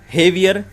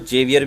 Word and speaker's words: Javier: यहाँ पर एक पॉपुलिस्ट नेता है हेवियर माइली, जिसको जेवियर भी कहा जाता है, लेकिन अगर हम अर्जेंटीना की लैंग्वेज में बात करें, प्रोनाउंसिएशन इसका देखें तो जे को हे पढ़ा जाता है। तो यहाँ पर जेवियर नहीं है ये, बल्कि हेवियर है ये।